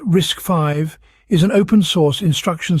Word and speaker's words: RISC-V: why does it matter RIS TV pronounced risk five is an open- Source